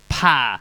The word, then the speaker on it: Pa: correction from last week, it's Pa, not Paw. He's very specific on the pronunciation of his name. It's supposed to be Pa, like Patrick, not Paw, like Pawpaw. Okay. So just yeah, he wants a Pa, you know, get the harsh A out there.